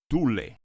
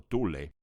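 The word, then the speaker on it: Thule: del mundo entre comillas Tule que hoy en inglés se escribe como th h u l e se ubica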